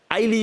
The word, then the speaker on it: Ily: Je suis très heureux de recevoir Hailey et non Illy.